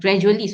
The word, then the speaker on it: gradually: it is a and gradually, not gradual, gradually, because it is an adverb, so the stress is on the first. Okay, it is on the first syllable.